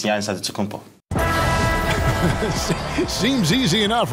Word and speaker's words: Antetokounmpo: In a Greek way, you gotta say it with a D, so it's Antetokounmpo. But in the Greek way, you say it with an NT, like Antetokounmpo.